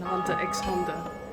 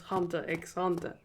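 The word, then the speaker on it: Hunter × Hunter: I also learned like 1 or 2 years ago that you're not supposed to pronounce the X in Hunter X Hunter.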